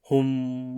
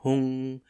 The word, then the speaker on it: Hum: Hum or Hung is sometimes protracted.